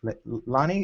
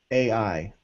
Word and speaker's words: Lanai: Lani, is that how you pronounce it? Lahaina? It's known as Pineapple Island. Yes. Lanai.